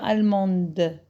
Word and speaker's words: allemande: Par contre, le féminin, quand j'ajoute le E, donc je prononce le D.